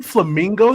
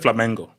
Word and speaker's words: Flamengo: Hold on, has he been saying Flamingo? He's been saying Flamingo the whole time. No, I said Flamengo.